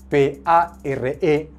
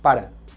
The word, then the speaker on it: pare: Por ejemplo, padre se escribe P-A-R-E en catalán, pero yo no digo en el catalán de Barcelona pare, yo digo para, que es como si fuese una E entre una E y una A, ¿ok?